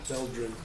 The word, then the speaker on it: Veldrin: There's been a big dispute as to how to pronounce the street in front of it, so Veldrin. that's the answer. Veldrin.